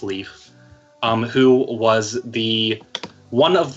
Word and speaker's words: Lif: from Norse mythology which is spelled LIF LIF pronounced Leif who was the one of the two survivors